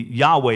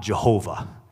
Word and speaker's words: Yahweh: insert it would be Yahweh and not Jehovah Jehovah is not really how that would have been pronounced actually to be honest we don't know exactly how to be pronounced I think Yahweh is is the closest to that which I say it's not Jehovah because they didn't have a letter J like that in in Hebrew but the reason we